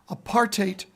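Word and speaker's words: apartheid: parate and what I've always been told is apartate rhymes with hate and it's wrong it's physically wrong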